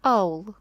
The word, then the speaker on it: Хаул: відрізняється вимова ім'я хаул коли ми бачимо літеру Ака ми вимовляємо її як х але в італійській мові ця літера німа вона не вимовляється і тому ми ім'я хаул чуємо як аул Отже дівчата побачили замок